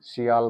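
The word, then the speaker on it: 서울: है सिओल यही है स्पेलिंग ऐसी सी होती है ना सियाल करके बोलते हैं इसको सियाल है ना ठीक है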